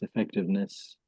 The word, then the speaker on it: effectiveness: So maybe I don't know the word effectiveness is maybe a little bit more tricky to pronounce particularly the s at the end. I think in Vietnam you don't really have ss.